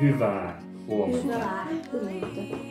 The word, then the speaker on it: hyvää huomenta: But it's double A at the end. Hyvää huomenta.